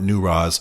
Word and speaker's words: Newroz: It's pronounced a variety of ways, but my local Kurdish friends call it Newroz.